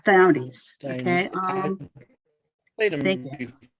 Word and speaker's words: Diomedes: I'm doing Diomedes. Is that how it's pronounced? Yes, Diomedes.